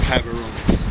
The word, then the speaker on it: Gaborone: So, have you ever heard of Gaborone? No. That's the capital. It's spelled with a G at the beginning, but I've talked to someone who actually lived there.